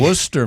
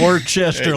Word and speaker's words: Worcester: And by the way, Matt, you were a little surprised that I was able to pronounce that properly. Right. Worcester, Massachusetts. I was. Not Worcester like some people do.